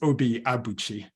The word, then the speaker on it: Obi Abuchi: Carol mentioned my name, so the correct pronunciation for my name is Obi Abuchi. So that's and I learned that when I was in Nigeria, although most of the time I say Obi Abuchi.